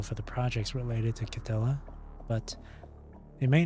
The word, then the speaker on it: Cthulhu: I've learned that when it came to like pronouncing names like Cthulhu or Cthulhu, it's actually pronounced as if there's no like th sound. That's why I pronounce Cthulhu as Cthulhu, not Cthulhu.